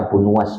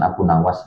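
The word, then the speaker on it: Abu Nuwas: dalam syairnya Abu Nuas nun wu ya dengan dibaca domah nunnya dan wunya itu ditambahi wau ya jadi bacanya Abu Nuas bukan Abu Nawas aslinya ya dengan domah di nun dan ditambah wau ismuhul hasan namanya aslinya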